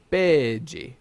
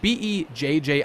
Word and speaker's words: Bege: Oh yeah, like no, in Italian you pronounce it Capone, but whatever. It's Capone, Beige. Beige. It's like Bejji.